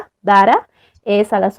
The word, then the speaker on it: Dhara: Facebook que se llama Dara. Se escribe como Dhara, Dara, es a las 8 de la noche de Bolivia.